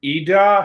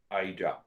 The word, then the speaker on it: Ida: first part i will have you heard of eda hurricane thank you for correcting my pronunciation ida i express the same idea whether you say